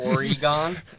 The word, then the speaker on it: Oregon: Oregon. It depends on where you're at. Clearly in the Midwest, it's Oregon. It's a 3-syllable. If you're Timmy, it's a hard gone.